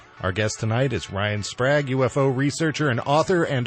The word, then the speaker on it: Sprague: It's Prague with an S, so I appreciate it.